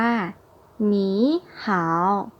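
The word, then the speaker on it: 你好: กัน เลย นะ คะ ประโยค นี้ อ่าน ว่า หมี หาว นี้ หาว แล้ว ว่า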